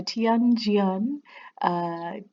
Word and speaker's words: Tian Jian: uh for pronunciation and i a is pronounced ya so the t kind of says its own name so it's yon